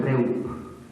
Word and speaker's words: reup: el origen etimológico es una palabra indoeuropea que se pronuncia reup y quiere decir en